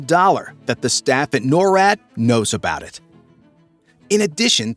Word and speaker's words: NORAD: Known as the North American Aerospace Defense Command or NORAD (pronounced NOR-AD), this tenant command is responsible for ensuring the skies over the US are safe from any incoming threats, including nuclear weapons.